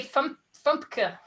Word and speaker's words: FUMPKA: First on our list is Fairy, Unicorn, Mermaid, Princess, Kitten, Card Game and Pins, aka Fumpka. I like it. The pronunciation-friendly acronym FUMPKA, if you don't want to say all of the words at once.